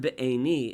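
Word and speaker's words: בעיני: This word be'eni is interesting because it's spelled ayin yud nun, even though or ayin vav nun is how it's spelled, which would mean ba'oni, my suffering, but it's spelled be'eni.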